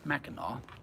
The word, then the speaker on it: Mackinac: to mackinac island which is spelled mackinac but pronounced mackinac knock-knock um that was great the upper peninsula